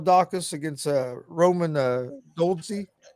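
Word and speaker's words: Dolidze: against uh roman uh goldensea uh or dole dice i think is how they pronounce it but uh he's uh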